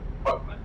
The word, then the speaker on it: Cockermouth: Cockermouth. Oh, Cockmouth, yeah. My God. Well, the people from there that know it actually pronounce it the way you probably said it, Killer. Cockmouth. But everybody else, it's Cockermouth.